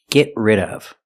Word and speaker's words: get rid of: We see the T in get is a stop T. Get rid of. Link the sounds. Link the stop T to the R.